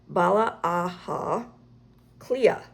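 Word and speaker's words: Baile Átha Cliath: But it says, "But in Irish Dublin is by pronounced Bala Aha Cliath. Cle-a. Bala Aha Cle-a, which means the town of the fort of the hurdles."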